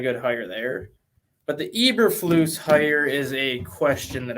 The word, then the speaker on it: Eberflus: Eberflus, is that how we pronounce his name? Eberflus.